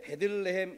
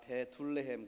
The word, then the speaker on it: 베들레헴: 발음을 잘 하셔야 합니다. 베둘레헴 그러면 큰일 나요. 베들레헴입니다. 베들레헴.